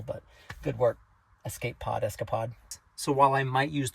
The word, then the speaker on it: Escapod: also uh I know I thought it was called The Escape pod it's called the escapod that's that's how you say it the escapod um but